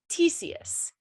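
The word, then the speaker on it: Ctesias: pronounce this correctly but satesius so i tried finding out how to pronounce these things um i do believe the c is silent and it is called tesius his name huh i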